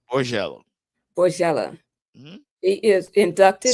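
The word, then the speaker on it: Borgella: Borgello.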